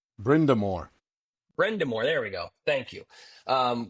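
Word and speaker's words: Brind'Amour: Brendenheimer. Brindamore. Brendamore, there we go.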